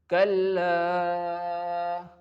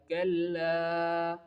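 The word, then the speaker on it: كَلَّا: In the first example, kalla, the light front of the mouth sound like kalla, kalla.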